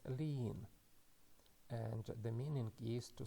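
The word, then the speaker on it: לין: The first letter is lamet, and the sound is L. And after that we again have matres lectionis, hirik yod, and it is pronounced as one sound, E. And the final letter is nun safit, and it is pronounced as N. So we can read this word as lean, and the meaning is to spend the night.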